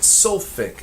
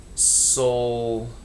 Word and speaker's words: sulfuric: But this isn't sulfic acid, it's sulfuric acid. They add that little extra syllable in there to make it a little easier to say.